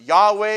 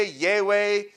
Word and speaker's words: Yahweh: The word without vowels, YHWH, it is commonly known to us as Jehovah, but it could be pronounced Yahweh, Yahweh, all sorts of other ways, Jehovah, Yehovah.